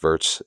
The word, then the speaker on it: Wirtz: So your thoughts, how will Florian Wirtz, or Wirtz, I think it's Florian Wirtz, pronounce it Wirtz, W is silent in German, Wirtz goes with the V.